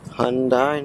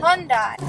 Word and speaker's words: Hyundai: Hyundai, nigga. Hyundai.